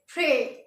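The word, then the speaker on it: près: फ्रे, PRES, और इसे हम प्रोनाउंस करेंगे फ्रे।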